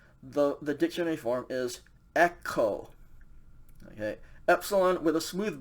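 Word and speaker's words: ἔχω: this present tense the the dictionary form is echo okay epsilon with a smooth breathing mark t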